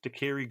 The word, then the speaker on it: daiquiri: exactly I wonder how Paul feels that he butchered a word worse than Grace did it's dakiri goozle and nobody can say chair either nobody's